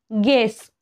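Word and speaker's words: guess: म्हणजे अपराधीपणा किंवा दोषीपणा गेस यु च्या नंतर ई आलेला आहे रेस्क्यू यु च्या नंतर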